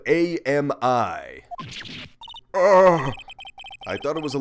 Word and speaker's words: Ami: founder yep Ami Fe I think it's supposed to be pronounced Ami cuz it's Japanese but I'm going to